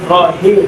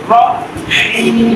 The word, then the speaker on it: رحيم: রহিম হাল চলন আসবে কেউ যদি বলে রহিম তাহলে কি হয়ে গেল ভুল হয়ে গেল এখানে কোন হা আছে বলেন তো বড় হা আর বড় হা উচ্চারণটা ভিতর থেকে আসবে রহিম ঠিক আছে বলেন বিসমিল্লাহির